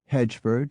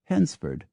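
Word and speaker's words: Hednesford: village that surrounds it h d n s f o r d Staffordshire can be pronounced either hedgeford or henford S HR W SB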